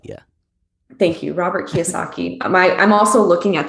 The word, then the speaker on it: Kiyosaki: and so i'm an idiot but it's robert kiyosaki yeah thank you robert kiyosaki my i'm also looking at the two books